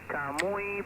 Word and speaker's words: Camuy: From, I believe is it pronounced Camus, Puerto Rico? Go ahead. Yes, Camuy, Puerto Rico.